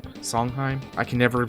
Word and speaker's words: Sondheim: going around like remaking a lot of these songheim Sondheim song Sondheim is that right Stephen Sondheim Sondheim I can never pronounce the right name right I know it